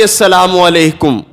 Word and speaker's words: السلام علیکم: کس نے لام کو حذف کر دیا، کسی نے لام کو حذف کیا، کسی نے اگلی لام کو حذف کیا، کسی نے میم کھا لی، کسی نے عین نہ بولا. یہ ہم اپنے تلفظ بنا کے بیٹھے ہوئے ہیں، حالانکہ ہر تلفظ کا معنی الٹ ہو جاتا ہے.